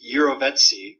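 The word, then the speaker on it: jirovecii: So Pneumocystis carinii is now the classification for the form of Pneumocystis that infects rats, and Pneumocystis eurovetsi, which is the pronunciation, eurovetsi is the species that infects humans.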